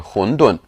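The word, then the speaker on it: 馄饨: of dumplings are called hondun in english we refer to these as wontons from the cantonese pronunciation wontons are similar to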